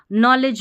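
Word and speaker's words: knowledge: जैसे यहां पर देखिए नॉलेज में के एन साथ में है तो के को नहीं पढ़ना है। एन से पढ़ना है।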